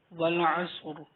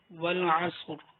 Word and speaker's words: والعصر: چلتے سبق کی طرف۔ بسم اللہ الرحمن الرحیم۔ والعصر، اس کو غور سے سنیے گا۔ والعصر، ٹھیک ہے۔ بعض بھائی جو ہیں وہ صاد پر زبر پڑھ لیتے ہیں، یعنی کہ والعصر پڑھ لیتے ہیں، والعصر نہیں ہے، والعصر۔ ان